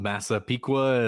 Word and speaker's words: Massapequa: I guess he is from Massapequa. Is that how you pronounce where he's from?